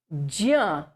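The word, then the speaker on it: ज्ञ: Okay, so this Jya, it is not one single letter. It is a combination of J and Nya. J is Cha, Cha, J, the third letter, okay, of the Cha Varga. Cha, Cha, J. So half J and then Cha, Cha, Ja, Jha, Nya, the fifth letter of Cha Varga, that is Nya. So J and Nya put together is Jya.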